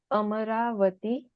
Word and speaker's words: Amaravati: Can you pronounce that name slowly and clearly for us all? Shalla. Ah, sure. It's Amaravati.